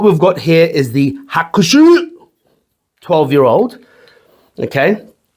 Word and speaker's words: Hakushu: Hakushu! Yeah, that's how you say it. Just from the guts.